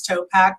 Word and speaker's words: Topac: So the name of the company was Topac for Tiffany, Oliver, Philip, Anthony, and then the Q was for quality, because we gave a lifetime guarantee. But really it was to rhyme with backpack.